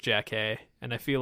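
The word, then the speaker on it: Jackée: I think it's pronounced Jack A.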